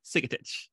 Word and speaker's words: Sigetich: pronounce from my throat when i should be pronouncing through my nose this is andrea sigotic she is a delight and i'm so glad